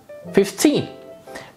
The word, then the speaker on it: fifteen: For example, the key here is the stress 50, 15.